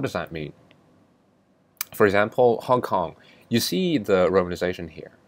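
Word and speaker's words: 香港: So Hong Kong should be pronounced with the same pitches, same tones as 1 and 9.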